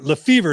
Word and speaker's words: Lefevor: the most uh i have with me lefevre is that how you pronounce it yeah that's it john happy